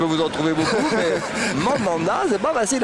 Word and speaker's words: Mandanda: 3 Normandie qu'il est, m'a dit le D on le prononce, donc c'est moins facile pour le gardien du Havre, mais on dit bien Steve Mandanda plutôt que Mandana.